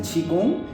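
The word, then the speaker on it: Qigong: Chi se escribe qui, Qi y y Gong se lee en español, pero el nombre chino es chigong, para que esta persona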